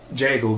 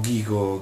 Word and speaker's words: Gecko: Geco, Geco, Gecko, a seconda di chi lo pronuncia, è il motore di rendering di Firefox che è contenuto anche in Firefox OS.